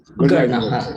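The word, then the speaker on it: Gurnah: Is Gurna the right pronunciation or Gurna? Correct. Gurna.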